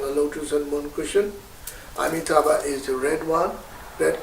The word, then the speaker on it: Amitabha: now, Om Amitabha Hi, or in Tibetan pronunciation we say Om Amideva Hi. So either way is fine. Sanskrit pronunciation is Om Amitabha Hi.